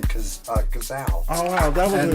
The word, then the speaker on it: Cazal: And that's how you got the name Cazal. oh wow, that was And a lot of people call it Cazali or Kazis or whatever back then also, but the real deal is spelled this way,